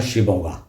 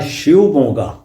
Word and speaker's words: शिवमोगा: प्रस जगह है उस जगह का नाम है शिमोगा वास्तव में इसका उच्चारण है शिवमोगा तो हर जगह य कर्नाटक